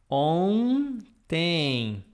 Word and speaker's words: ontem: Or another one, ontem. I would write in English, ontem, ontem, ontem, bom ontem. Easy? Is it easy or not? Always you see this on, we are gonna pronounce like this. Bom, ontem.